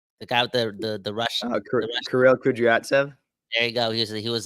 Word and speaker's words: Kirill Kudryavtsev: Kirill Kudryavtsev.